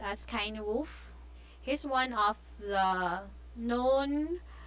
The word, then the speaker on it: Cynewulf: It's pronounced as Kainwolf.